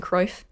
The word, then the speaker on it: Kruijf: For reference, it's Cruyff. It's like the YJ thing that's in a lot of Scandinavian and European countries.